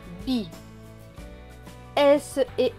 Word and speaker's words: bise: Donc S et E. exceptionnellement, va se prononcer ze. Donc ce mot va se lire bise, bise.